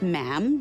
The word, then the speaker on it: ma'am: majesty and after that it's just ma'am rhymes with jam and it's always a